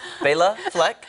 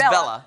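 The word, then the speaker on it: Béla Fleck: I mispronounced it during the commercial break, and Kelly corrected me. It is Bela Fleck. Right, and he said it was a girl. And I thought it was Bella.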